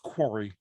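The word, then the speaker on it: Kwari: yeah no it's a game called quarry k-w-a-r-i quarry it's pronounced quarry should it take place in a quarry was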